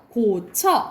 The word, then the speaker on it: 고쳐: 이건 무조건 그냥 처로 발음합니다. 이거는 처야. 그러니까는 고쳐 이렇게 발음해야 된다 이 말이야.